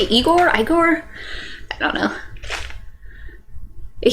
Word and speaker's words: Igor: He's like, no, it's pronounced Igor.